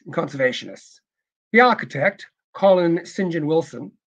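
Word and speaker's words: St John: conservationists the architect Colin Sinjin Wilson the Sinjin part looks like st. John but that's just more the strange little things the Brits do they pronounce saint Saint John likes engine in the name was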